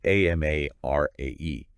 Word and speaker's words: Amarae: And just a note here, Amarae is spelled A-M-A-R-A-E, Okay. and it's pronounced Amarae.